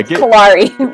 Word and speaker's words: Kalare: Kalare rhymes with safari.